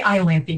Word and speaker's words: Iolanthe: And then the same with, I say Iolanthe because that's how they say it in Gilbert and Sullivan. Although I had one interviewer pronounce it Yolanthe, and I think she's probably correct.